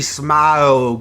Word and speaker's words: Smaug: the desolation of Smaug is its jaws or smog how do you say it mouths I go with the smog kind of just drag out the middle for a while okay dress smile good